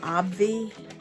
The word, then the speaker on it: Obvi: is my ib protein i pronounce it obvi it's obvi um anyway um and